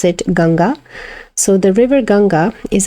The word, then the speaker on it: Ganga: said, but it's just added about the goddess Ganga here, the river Ganges. So her name we pronounce it Ganga.